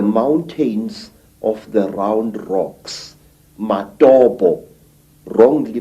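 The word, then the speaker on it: Matobo: place called the mountains of the round rocks matabo wrongly pronounced matopo in in Zimbabwe this Hills are really not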